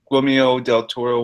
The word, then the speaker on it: Guillermo del Toro: I'd love it to happen, but it won't never happen until Guillermo del Toro, whatever you pronounce his name.